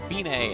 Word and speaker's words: Fine: of note we're counting with it looks like fine but it's pronounced fine and it means it's the end the finish